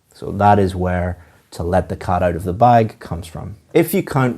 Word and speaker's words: let the cat out of the bag: The pronunciation of this is to stress or emphasize cat and bag. Let the cat out of the bag.